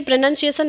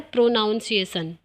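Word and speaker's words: pronunciation: देखिए, ये प्रोनंसिएशन लिखा हुआ है, बट कुछ टीचर्स इसको बोल देते हैं प्रोनाउंसिएशन।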